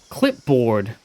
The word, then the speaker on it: clipboard: But he apparently has gone through his entire life pronouncing clipboard as clibbard.